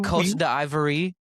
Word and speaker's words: Côte d'Ivoire: to how it's pronounced. There's The not a chance you. The Côte d'Ivoire.